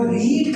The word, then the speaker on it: read: देखिए इज क्या हुआ, सिंगुलर लगा, लेकिन इसका तो थर्ड फॉर्म लगेगा, तो रीड का थर्ड फॉर्म रेड होता है।